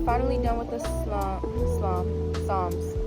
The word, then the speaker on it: Psalms: Okay y'all, so we are finally done with the slam psalms. I keep saying slom. Psalms. They got like all these extra letters in here and you don't even hear them when you pronounce it.